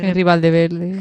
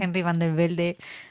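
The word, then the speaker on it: Henry van de Velde: Henry Valdeverde. Henry van der Velde. ¿Bu? Sí. Tu nombre favorito de pronunciar.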